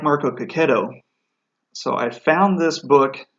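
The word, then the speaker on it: Checchetto: he was introduced as Marco Coquet oh so that's why I'm pronouncing it but I really like Marco Coquet oh he's done several of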